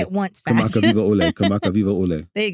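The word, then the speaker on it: Kamakawiwoʻole: Kamakaviva Ole. Yes. I mean, what say a that 10 times fast. Yeah, Israel Kamaka Viva Or just Ole. say it once fast. Kamaka Viva Ole.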